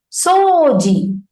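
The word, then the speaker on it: 掃除: Soji will be the original word, the pronunciation style. But the spelling will have U, right? So it is not Soji, it is Soji. When you pronounce it, you should hear only O sound.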